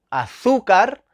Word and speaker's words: azúcar: tenemos tres ejemplos azúcar azúcar lleva tilde porque cuál es la sílaba tónica la penúltima es llana bien y ahora termina en